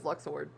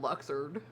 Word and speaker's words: Luxord: I thought it was Luxord. He said Luxer. Luxer like Lizard.